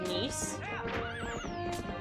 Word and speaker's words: Nice: my ass and also nice is pronounced niece yeah it is i